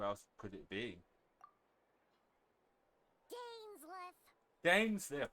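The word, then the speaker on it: Dainsleif: Dainsliff, that's how you pronounce it.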